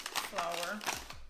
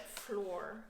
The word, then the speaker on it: flour: white flour here and i learned just last year that it's pronounced flower before that i said floor which is the floor